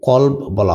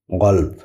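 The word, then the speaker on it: قلب: মানে ঠান্ডা বারিদ ঠান্ডা গালফ মানে মন এটাকে কল বলা হয় কলপ আবার আবার বলছি আগের ভিডিওগুলোতে বলেছি এরাবিয়ানরা ক কে গ এর মত উচ্চারণ করে এজন্য গলব কলব মানে গলব গল মানে মন অথবা হৃদয়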